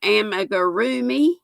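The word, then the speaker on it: amigurumi: and y'all are right it was amagorumi i didn't i didn't used to say it correctly but i think i've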